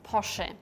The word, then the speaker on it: Porsche: Volkswagen in German it's POR in German it's very important that the e at the end is spoken in Japan we say